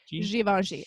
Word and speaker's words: Givenchy: Yeah, Givenchy. It's French.